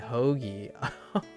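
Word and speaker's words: hoagie: or hokei or hocky hokei but Italian stand pronounced it hogy that's so good oh that's so good I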